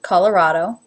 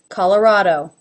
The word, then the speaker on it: Colorado: i personally pronounce it colorado CAW ah this is like the aw as in law even though it is spelled as a no call la schwa raw again that aw as in law colorado Oh as a no